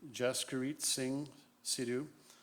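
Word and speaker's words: Jaskirat Singh Sidhu: those that require the spelling the accused we pronounce the name Jessica REIT Singh Sidhu the name is spelled at Jas ki our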